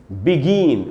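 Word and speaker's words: begin: और उसके बाद दोस्तों बेगिन बड़ी सावधानी को सीखना चाहिए देखिए इसकी जो स्पेलिंग होती है वो होती है बे आई एन और इसमें जो स्ट्रेस है वो जी के बाद जो आई है ऐसे पढ़ना चाहिए दोस्तों मैंने अपने कई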